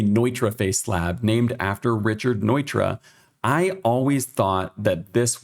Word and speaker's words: Neutra: Neutroface slab is actually Nitroface slab, named after Richard Nitra.